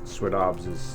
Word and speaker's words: Swinomish: that's what Swinomish means sweet OBS is how you say it in our language and that means we